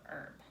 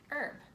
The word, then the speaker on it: herb: is a type of herb everybody try saying the word herb herb it has a tricky silent H herbs are something that